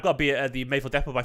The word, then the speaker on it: Mayfield Depot: Mayfield Depot, not Maffle Depot.